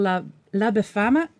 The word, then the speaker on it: La Befana: It's called La Befana, if I'm pronouncing it right.